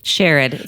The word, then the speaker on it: Sherod: Uh joining us is Sherrod. Did I pronounce your name correctly? Shared shared.